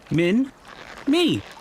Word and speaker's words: Minmi: Hi, my name's Minmi. It's very easy to say. Min, me.